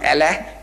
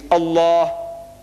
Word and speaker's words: Allah: It is not Allah, it's Allah.